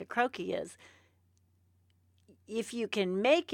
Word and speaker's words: croquis: don't know why don't we talk about the croaky croaky and how do you spell it so everybody knows CR o qu is